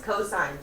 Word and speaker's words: cosine: write c o s you don't pronounce it C it's cosine don't say c can